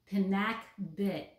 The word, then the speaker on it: pinakbet: Philippines that's an all-time favorite, and it's called pinakbet, and that is spelled P-I-N-A-K-B-E-T.